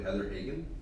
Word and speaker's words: Heather Hagan: Then we can discuss the candidates who, the Wyoming County candidate is, I think I'm pronouncing this correctly, Heather Hagan?